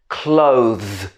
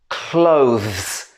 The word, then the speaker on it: clothes: using this very much just remember the pronunciation of clothes okay let's try it one more time clothes hardest part is the transition at the end between and clothes or